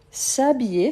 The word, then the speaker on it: s'habiller: S'habiller, super. S'habiller commence par H muet. Donc s'habiller.